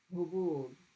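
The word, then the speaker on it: هبوب: the rose ha or the chest ha. Hubub. You know, put your hand on your chest. Ha. Ha. The sound right here is from your chest. Hubub. Hubub. And it's a lot closer to the English H. Like when you say home, that comes from your chest. Hubub. Now, if I make it the throat one, hubub. Hubub. Now it's in my throat.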